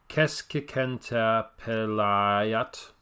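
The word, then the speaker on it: keskikenttäpelaaja: The emphasis should be placed firmly on the first syllable. So, Keskikentapelayat.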